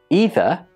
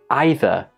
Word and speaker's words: either: a long e or is it either with an I which one do you think is correct well both are correct this word can be pronounced either or either it's the same for this word it can be neither or neither again both pronunciations are acceptable this is not a